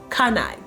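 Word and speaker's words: CANI: spelt a CA and I okay and it's pronounced kunai and literally is an acronym for the world's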